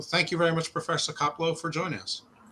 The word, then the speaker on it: Koplow: So, thank you very much, Professor Caplo, for joining us.